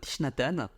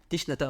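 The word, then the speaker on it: Thích Nhất Hạnh: prononcer en vietnamien donc en français on dit toujours tishnatan tiatan tichnatan en français ok euh et en en vietnamien on dit toujours trai TR c'estut dire maître ah ok et après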